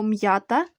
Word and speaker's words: м'ята: три перше слово ята приголосний звук м перед я вимовляємо твердо отже пишемо слово м'ята з апострофом записуємо з